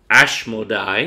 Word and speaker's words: Asmodeus: So really, Tobit is quoting 2 Kings 17 as Asmodeus, Asmodeus. His name is even pronounced in Greek, Asmodai, Modi.